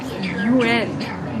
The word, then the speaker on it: yuan: The correct pronunciation is something like UN, but that's just to get started. The first U part is pronounced with the mouth forward, like the German letter U with an umlaut, which I think is U or something. Second N part is really somewhere between N and an.